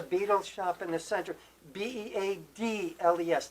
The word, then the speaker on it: Beadles: Beadles, not like the musical group Right. Beatles. Exactly. Even though pronunciation is yeah, about the same, pretty right? much the same.